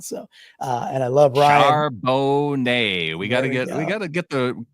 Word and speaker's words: Charbonnet: Charbonnet. We got to get the correct pronunciation down.